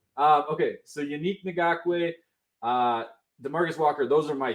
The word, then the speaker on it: Ngakoue: I have Yannick Ngakoue. God, I said it wrong. Yannick Ngakoue.